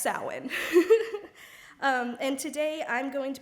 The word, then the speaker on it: Samhain: The word Samhain is kind of confusing because if you say it how it's spelled, it would look like Samhain. But it is pronounced Samhain.